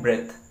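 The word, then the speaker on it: breath: तो इसको पढ़ते हैं ब्रेथ। क्या पढ़ते हैं? ब्रेथ। और इसको क्या पढ़ा जाता है? ब्रीद। इसको पढ़ते हैं ब्रीद। इसको क्या पढ़ते हैं? ब्रीद पढ़ते हैं, और इसको ब्रेथ पढ़ते हैं।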